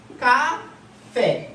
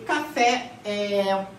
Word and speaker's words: café: Você fala café. Então a sílaba tônica é a última, certo?